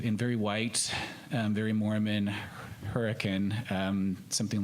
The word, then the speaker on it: Hurricane: in very white very Mormon hurricane Utah but pronounced hurricane southern Utah and I go to church with